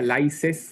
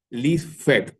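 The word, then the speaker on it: laissez: Tenemos el liderazgo, si lo pronunciamos tal cual como está escrito, sería licen del francés debería ser algo más o menos list.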